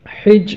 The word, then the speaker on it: حج: کرنا بیت اللہ کا۔ حج اور حج، ہا کی زبر اور زیر دونوں طرح سے اس کا تلفظ ہے، اور حج کا اصل